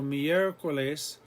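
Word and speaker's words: miércoles: e or the o so mier coles the accent mark goes on the e if we put the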